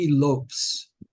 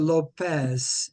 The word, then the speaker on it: Lopes: up let's try Dave Lopes let me highlight him bring him up over here interesting he doesn't pronounce a Lopez it's Lopes all right opening bid is